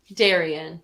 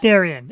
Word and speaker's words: Dariann: Is it Darian or Dariann? Darian, yeah. Darian.